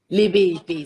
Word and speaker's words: Lebepe: that correctly le bohang is that how you pronounce your surname it's actually libbey libby so rang underscore that's